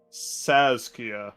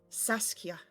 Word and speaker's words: Saskia: Let me hear you say it properly. Saskia. Nope. Saskia. Saskia. There you go.